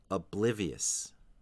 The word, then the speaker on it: oblivious: the second syllable and there is also a little bit of a stress on the final syllable oblivious finally we have the